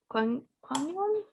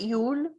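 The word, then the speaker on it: Gong Yoo: Kwon Yoo? Kwon Yoo. Kwon Kwon Yoo. Kwon Yoo? You. Isn't it Yule with the L? No, it's you. We've been Oh. saying it wrong this entire I time.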